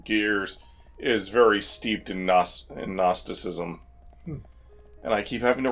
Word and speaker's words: gnosticism: is very steeped in gnosticism and I keep having to remind myself that the Geon gnosticism is silent it is a silent G it is not genostis syntheticism have you been